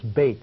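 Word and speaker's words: בית: that's where you know temples are called bate or Beth something that Beth is another pronunciation of Beit but it also means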